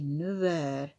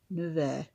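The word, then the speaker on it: neuf heures: So we say 9h. So the F becomes a V. 9h, at 9 o'clock. Okay, vous êtes allé. The second one is a feminine singular. Vous êtes allé au bureau at à 9h.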